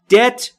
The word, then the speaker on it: debt: Debt با بی سایلنت یا بی صدا و در اینجا تلفظ نمیشه یعنی قرض.